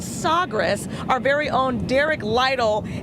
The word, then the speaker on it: Sagres: The Sagres is how you say it in their language.